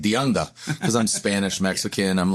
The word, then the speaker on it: DeAnda: And then even I say DeAnda, and I go to these Snap-on things, you know, you're mispronouncing your last name, right? They're like, "DeAnda."